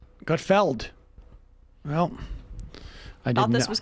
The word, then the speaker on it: Gutfeld: regular basis is it is it not gut feeling no i got feld well i thought this